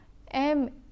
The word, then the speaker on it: mangeons: But because the letter G also changes its pronunciation before hard vowels like A, O and U, MANGONS is pronounced as mangon. To retain the j sound, one must add an E after the letter G. Now, MANGEONS is pronounced as mangeons.